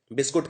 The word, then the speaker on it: biscuit: तो बिस्कुट की स्पेलिंग वैसे तो होती है BISCUIT, जो कि इस बिस्कुट के ऊपर लिखी भी हुई है, लेकिन आप इसको कर दीजिए बिस्कट।